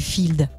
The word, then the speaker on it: FIEALD: Alors, qu'est-ce qui se cache derrière ces lettres du Field ? Je peux y aller comme tu veux. Voilà, vas-y. Alors le Field, ça s'écrit F-I-E-A-L-D, donc pas comme ça se prononce, et ça signifie Festival international d'expression artistique libre et désordonnée.